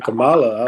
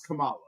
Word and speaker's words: Kamala: When you said Camala, I was like, that's not how you pronounce her name.